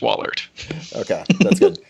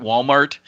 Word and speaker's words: Wallaert: for a long time to me it's just Wahlert that's good action item